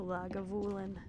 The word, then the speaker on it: Lagavulin: i like laga villain lagavulin the goblin i think most people say it like a lag of woolen isn't that how ron